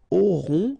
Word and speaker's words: auront: Then, ils auront, final T not pronounced, O-N together, on, auront, okay, and then the link between the two, ils auront, elles auront.